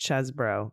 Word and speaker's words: Chesebro: I guess it's pronounced Chesbro.